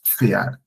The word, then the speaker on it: Pferd: Das Pferd, das Pferd. Like the PF, Pferd. Krankenpfleger. Also like the P is not all that silent, but almost silent, but you hear the F more, like Pfleger.